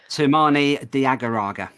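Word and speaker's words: Toumani Diagouraga: what is the correct way to say that sumani diagaraga Diego Raga not funny I really wish he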